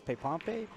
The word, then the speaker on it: Pepompe: Well, the last name's a little hard to pronounce, right? It's Pepompe.